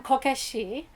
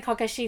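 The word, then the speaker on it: こけし: radio and it's because the term kokeshi you can phonetically you can also hear that as core is in child and cashier which is arrays so um a lot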